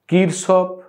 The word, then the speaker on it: Kirchhoff: উচ্চারণটা দেখো কোন মানে কিরসফ কারসপ এই বিভিন্নভাবে উচ্চারণ থাকে আমরা আমাদের মতন করে এটা কারসপ উচ্চারণ এইভাবে আমরা করবো